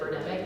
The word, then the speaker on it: Birdemic: Is it Birdemic, like pandemic? Yeah.